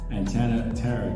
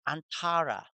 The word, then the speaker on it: Antara: around and arrange her antenna Tara to have voting rights to get a ride hey hey you're saying it wrong it's antara what we voted to